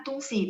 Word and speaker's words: 东西: Sekalian karena tungsi pasti teman-teman akan sering ketemu di kehidupan sehari-hari. Jadi tadi sebentar, saya tulis dulu. tung si. Sebenarnya huruf tung sama si bacanya mereka sama-sama nada satu.